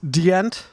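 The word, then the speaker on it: Djent: And regardless of how you feel about them, I'm not the hugest fan of Gent. I like Animals as Leaders. It's pronounced Dient. Dient. It's Swedish.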